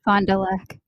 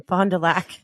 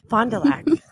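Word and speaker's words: Fond du Lac: fondul say it again Fondulac fondel Fondulac is I'm sure the French pronounce it very different but in Wisconsin that is how we say it it's a French name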